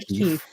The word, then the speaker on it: Keefe: It's John Connor Keefe. Keefe. Connor Keefe. Yeah, it's because when I Googled it, it came up John O'Keefe, and that's not right.